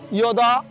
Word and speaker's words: যদা: মূল বইতে লেখা আছে যদা, আমরা যখন যদা অন্তজ যেখানে থাকবে সেটি অন্তস্থ অয়ের মতো উচ্চারণ করব, এই জন্য আমরা ইয়দা ইয়দাহি ধর্মস ইয় গ্লানির ভবতি ভারত অভ্যুত্থানাম অধর্মস্য অধর্মস ইয় তদা আত্মানাম সৃজামি অহম।